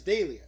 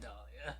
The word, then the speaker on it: Delia: No, it's Delia. But it's pronounced like No. Dahlia. No, it's not. Bro, it's not Dahlia.